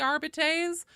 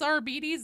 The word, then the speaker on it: Arbites: I don't give a if other people say it should be arbites. Games Workshop themselves says it's Arbides and their official pronunciation guide.